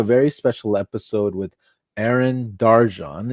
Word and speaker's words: Darcan: And today we have a very special episode with Arin Darjan. It's spelled Darkin, but I'm learning the pronunciations here.